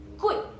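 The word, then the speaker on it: 贵: G kita perlu sebut K. So ejaan mahal dalam bahasa Cina ialah kui.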